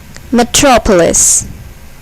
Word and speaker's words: Metropolis: Metropolis. Metropolis. Here, the second syllable is accented.